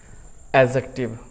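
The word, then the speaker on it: adjective: इट इज एन एडजेक्टिव why because here D is silent so वी can pronounce एडजेक्टिव नॉट एडजेक्टिव you should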